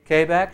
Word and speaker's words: Quebec: Uh the phonetic alphabet, Quebec or Kbeck. Which is it? Kbeck.